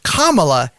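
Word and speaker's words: Kamala: endorsed vice president kamla Harris for those who mispronounce that name it is kamla Harris is running for president and it is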